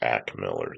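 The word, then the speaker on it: Ak Miller: His name is Ack Miller. You actually pronounce it that Oh, way.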